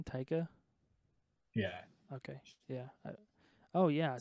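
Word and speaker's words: Taika: the director did you see boy so you pronounce his name tyka yeah okay yeah oh yeah I saw a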